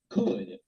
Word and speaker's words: could: De ahí sigue otro muy formal también, que es otra opción que es could. Could. Recuerden que ese could no se pronuncia la L.